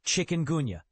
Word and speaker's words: chikungunya: Chicken Gona disease stems from infection by the chicken gona virus, pronounced chicken gonuna, and its name carries a haunting meaning.